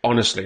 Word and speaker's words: honestly: Honestly does not, you don't pronounce the H. You just say honestly, not honestly, honestly.